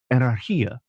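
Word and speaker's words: ἀναρχία: Well, that would be ancient Greece, with this word, Romanized and pronounced as anarchia, which had both a positive and a negative connotation.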